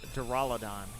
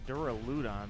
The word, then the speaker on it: Duraludon: the official pronunciation is duraladon it looks like it should be duraludon but they call it duraladon all right duraludon you're